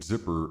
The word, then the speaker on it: Zipperer: the name of George Zipperer, Zipperer. Now in Wisconsin, there's a lot of German names, Shearer, Booker, Wooker, that have ER, but it's pronounced Zipper.